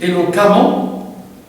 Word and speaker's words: éloquemment: Il se prononce amant, éloquemment, comme prudemment, comme évidemment, et ainsi de suite.